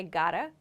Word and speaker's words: gotta: i have got to or you might hear native speakers say i gotta we often drop this v sound but we should use